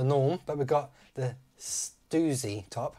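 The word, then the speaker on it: Stüssy: but we've got the stoozy top i think i was pronouncing it stuzzy i still want to call it stuzzy but apparently stoozy we got the top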